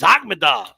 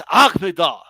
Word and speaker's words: Akhmedov: who the fuck is Akhmedov? Okay. And I have to correct. No, first of all, it's Akhmedov.